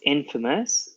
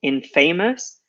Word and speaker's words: infamous: so if you don't know this word its infamous we also have infamy which is the noun and careful a lot of students print out want to pronounce it and it's very natural in famous but we actually closed that a for this